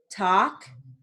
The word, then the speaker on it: talk: Now, moving on to silent L words with sentences. So we have half, palm, talk, psalm, walk, folk.